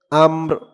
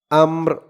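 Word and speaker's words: أمر: র দুই জের ঋণ আমর আম্র এখানে অক্ষফ করার কারণে উচ্চারণ হয়েছে আমর র আওয়াজটা লাস্টে একটু ভাসবে আমর মিন কুল্লির মিন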